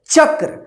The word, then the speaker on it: चक्र: तो देखिए चक्र कैसे, सबसे पहले मन में उच्चारण करना है च क्र, तो देखिए च क्र क्या होगा, च और यहां पे क्र, क में र पदेन है, तो ये आपका शब्द बन गया चक्र।